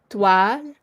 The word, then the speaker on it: toile: So this is 2 syllable. Toile. But I would say it faster. Like I don't say the le almost, so it would become toile.